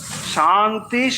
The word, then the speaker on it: শান্তি: কিন্তু যখন আমরা শান্তি উচ্চারণ করব তাহলে মনে রাখবো এটা হচ্ছে তালবস্য। শান্তি শান্তি শান্তি, এটা শান্তি নয় বা শান্তি এটাও নয়।